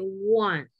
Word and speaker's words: want: Cuando yo digo el verbo querer, que es want, ese va como con A, ok, want. Si yo uso la contracción de will not, ese sería como con O, won't, all right?